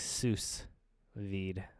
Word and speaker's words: sous vide: So like sous vide, but pronounced sous vide.